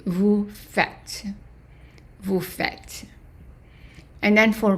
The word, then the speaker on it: faites: And then vous faites. Again, we're going back to the AI as an A. So this one is an exception. The nous. Vous faites. Not pronouncing the ES.